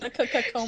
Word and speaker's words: Ronkonkoma: She still couldn't pronounce it, and I It was don't like get why. Ronkonkoma.